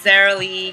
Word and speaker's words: Zar: again my name is Zar I know a lot of people always ask me how to pronounce my name it's like SAR but spot with a